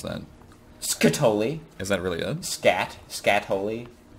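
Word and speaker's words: Skatole: Aren't you glad that you got Scatoli? How do you actually pronounce that? Scatoli. Is that really it? Scatoli. Is that really it? Yeah. Well, I mean, because scat, like scatology. The study of scat.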